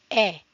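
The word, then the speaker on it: へ: He normally he but pronounced e when used as directional particle.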